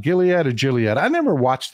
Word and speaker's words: Gilead: come in here depressed is the G A J or a g sound hard G Gilead okay thank you that's